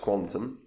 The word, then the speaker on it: Qtum: isn't a long-term downtrend now pronounced Quantum is a proof of